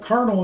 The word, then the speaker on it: colonel: colonel the colonel uh we call it cardinal is paid i don't know why i don't know why it's got an arcs it's not supposed to have an r but that's how it's said oh well moving here